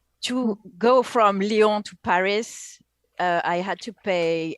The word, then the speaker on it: Paris: go from lyon to paris uh i had to pay 80 bucks i believe it's pronounced perry you don't pronounce the final s